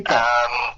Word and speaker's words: Celica: That's how you pronounce it over here. Celica.